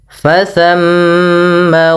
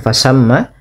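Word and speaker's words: فثم: Ah, di sini ada tsa. Hati-hati jangan terbaca dengan fasamma ya. Kadang kala kita terlupa membaca tsa diganti dengan sin ya fasamma padahal dia fasamma tsa ya fasamma.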